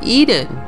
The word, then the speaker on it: Ehden: For example, a town across from Hasroun is called EHDEN, E-H-D-E-N, which phonetically is the same as Eden, E-D-E-N, as in the Garden of Eden.